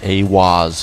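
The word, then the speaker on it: Aiwass: Aleister Crowley meditated inside the Giza octagram and channeled the divinity Awaz, pronounced Awaz, furthering the immutable connection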